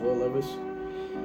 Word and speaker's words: Will Levis: That's how you say it, Will Levis.